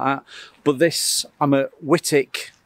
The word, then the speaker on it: Wightwick: but this I'm a whitic I think you pronounce it whitic Manor over in um